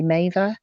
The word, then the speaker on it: Mavir: the autistic experience um on facebook i'm maever spelt like mavia but pronounced like had he made a sexual favor